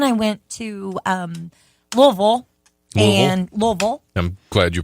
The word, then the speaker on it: Louisville: there and then I went to Louisville and Louisville I'm glad you pronounce that correct I do I respect the